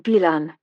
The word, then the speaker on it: Bilan: I'm Bilan, she said, putting the emphasis on the first syllable.